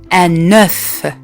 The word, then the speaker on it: œuf: ملي كتكون عندنا بيضة واحدة كنقولوا لها un œuf. كنطقوا هذيك اف في الاخير un œuf. ولكن ملي كيوليو بزاف ديال البيض ما كنطقش هذاك الحرف في الاخر اف، كنقول les œufs. غلط نقول les œufs، لا.